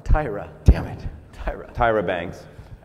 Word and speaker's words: Tyra: say her name right tara no tyra damn it tyra tyra